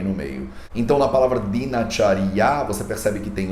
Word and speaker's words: Dinacharya: Então, mesmo que a palavra seja Dinacharya, a gente não pronuncia Dinacharya, a gente pronuncia Dinacharya, porque ela é A e aí ela cai para A.